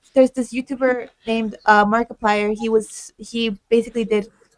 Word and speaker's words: Markiplier: Markiplier.